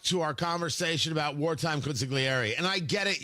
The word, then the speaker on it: consigliere: I want to go back to our conversation about wartime consigliere. And I get it. You're not supposed to pronounce the G, consigliere.